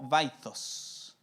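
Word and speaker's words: Vythos: El pleroma, o también lo van a encontrar en algunos lados como vaitos, que se escribe V-Y-T-H-O-S.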